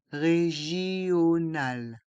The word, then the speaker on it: régional: Express régional. Les voyelles I et O se prononcent ensemble. JO. Régional.